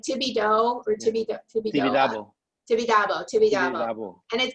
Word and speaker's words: Tibidabo: the Miró Museum, but there's also am I pronouncing it right? Jesus Tibidoa? CJs? No, the amusement park that's on top of the. Oh. I have a mug that from it. It's like Tibidabo or Tibidoa. Tibidabo.